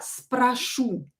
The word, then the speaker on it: спрошу: So, as you can see here, the stress is on the last vowel. Я спрошу.